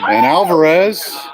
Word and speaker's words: Alvarez: Alvarez. That's how you pronounce it.